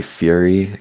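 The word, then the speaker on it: Furi: worthy of mentioning um obviously fury came out a few years ago uh spelled with an i so f-u-r-i and it's a game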